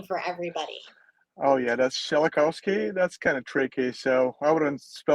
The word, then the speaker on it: Shelokovskiy: your last name for everybody oh yeah that's schelikowski that's kind of tricky so i wouldn't spell that out for you so we got it